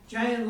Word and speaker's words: Jian: Jian. And my topic. No, I call it Jian. Yes. Giant. It's like sounds like J-A-N. Jian. I don't expect you to pronounce it like Chinese, so the closest is like J-A-N.